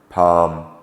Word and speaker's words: palm: KN no knife not L is often silent when included within the word as in Armond calm chalk Palm salmon some words ending in